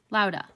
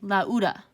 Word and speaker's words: lauda: would be the word lauda so if you were to pronounce this in your head you would not say la uda you would say lauda and so since these